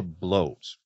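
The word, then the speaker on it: blót: we're together in uh they called them a bloat and it's spelled b t a lot of people think it's a blot but that's something that drips out of a fountain pen um but a bloat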